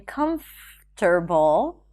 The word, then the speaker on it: comfortable: Instead of saying particularly, you can say particularly, particularly, particularly, and you can also drop the R in comfortable, comfortable, comfortable, and even in the word fur when the next word starts with a consonant.